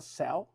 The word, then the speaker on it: Zelle: de amor en Selle, así se leería en español. A ver, déjeme pronunciar la Z, Selle en español, pero es una compañía inglesa, se llama Selle.